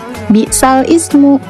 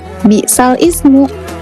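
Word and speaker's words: بِئْسَ الِاسْمُ: ayat 11 pada kata bal ismu. Nah, bal ismu ini tidak dibaca bisal ismu melainkan bisalismu. Nah, cara membacanya seperti ini. Bismillahirrahmanirrahim. faika humimun. Jadi karena ini naqal dibacanya bukan bal ismu melainkan balismu.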